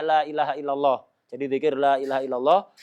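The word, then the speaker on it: لا إله إلا الله: Jadi zikir la ilaha illallah, khususnya kalau bacanya benar, lamnya jadi lam, hamzahnya ditahqiq, haknya disukun, dibaca dengan benar.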